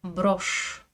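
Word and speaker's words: брошь: Par exemple, le mot broche. Broche. J'écris bien un signe mou mais il n'a aucun effet sur le ch qui reste dur.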